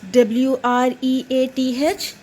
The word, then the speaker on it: wreath: what is what is w-r-e-a-t-h here the sound of w is silent so r e a